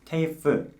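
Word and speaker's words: TAFE: 그 학교는 바로 퀸즐랜드 테이프라는 학교입니다. 테이프, 제대로 발음하면 테이프인데요.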